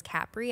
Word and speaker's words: Capri: It was supposed to be Capri, but then I was like, it's like the pants, and I'd rather we pronounce it as Capri.